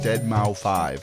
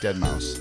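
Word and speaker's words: deadmau5: Yes, we're going to try to redeem ourselves from the way that you pronounce Dead Mouse 5. It's actually Dead Mouse.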